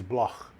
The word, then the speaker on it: Bloch: Anyway, that's how you pronounce it, like a K. But the way it's really pronounced in Germany is Bloch.